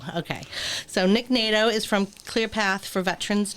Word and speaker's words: Nadeau: so we have a guest today um nick nadu and doe i knew i was going to mess that up i asked him about five times people what is how to pronounce his last name nato okay so nick nato is from clearpath for